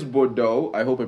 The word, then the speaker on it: Bordeaux: It says Bordeaux. I hope I pronounced that correctly. Yeah, that's correct. French. That's Bordeaux.